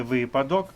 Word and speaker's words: випадок: листопад дивимось наступне слово випадок чи випадок правильно вимовляти випадок А нам подали неправильну